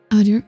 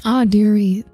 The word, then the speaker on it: Audire: Audire, yes. Hello, Misia. The rocket. Yes, Audire. That is how you pronounce it.